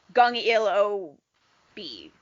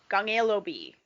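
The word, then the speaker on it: 015B: there's two people but it's pronounced in korean so other than the b so it's like gong ilo b gangelo b one of the things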